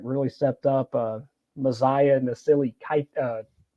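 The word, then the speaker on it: Mosiah Nasili-Kite: Another guy that I felt like really stepped up, Messiah Nasili Kite. That's how you say it. Sorry. Messiah Nasili Kite really stepped up, coming back to his home state and really putting it together.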